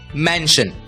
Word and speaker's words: mansion: MANSION, हमने सीखा SION की आवाज होती है शन, इसलिए MANSION का उच्चारण होगा मैन शन, मैंशन।